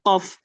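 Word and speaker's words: قاف: Kuk qik qu. Kalau dia enggak pakai bagian yang lembut pangkalnya atau bagian tadi bagian yang kering atau keras. Jadi ya kuk kik ku kuk kikiku beda ya. Itu pakai huruf kaf. Tapi kalau ini qof.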